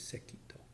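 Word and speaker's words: Sekitō: Zen to the master sekito pronounced the Japanese sekito um sekito is kind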